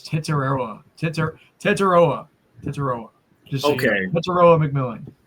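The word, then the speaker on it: Tetairoa: Wow, they do have some hard to pronounce draft picks, I'll tell you what, but I just pulled it up. It's Tetaroa.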